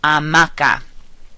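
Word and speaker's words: hamaca: comfy and take a nap and so that's pronounced amaka the second word er means hero notice that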